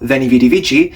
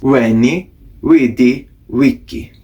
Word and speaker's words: Veni vidi vici: This famous example, Veni Vidi Vici, is not pronounced like that. That is based off of the pronunciation of modern Italian. It would have actually been pronounced like this: Veni Vidi Vici.